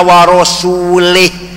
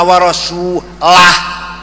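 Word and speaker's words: وَرَسُولُهُ: Yang benar bacanya innallaha bari'um minal musyrikina wa rasulah. Allah tidak melindungi orang musyrik, rasulnya pun tidak melindungi orang musyrik. Wa rasulah, jangan wa rasulih.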